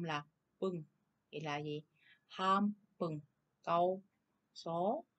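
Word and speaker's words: ハンバーグ: Thì âm in này chúng ta sẽ đọc là m chứ không có đọc là n nha. Cho nên chúng ta sẽ đọc là ham bừng chứ không phải là han bừng nha.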